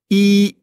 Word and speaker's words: 一: La prononciation est assez facile aussi. C'est Y, c'est aussi comme I.